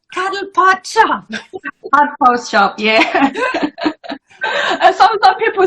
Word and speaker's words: Cuddlepodshop: I always say your shop name wrong. I'm like, that's fine. It's Cuddlepodshop.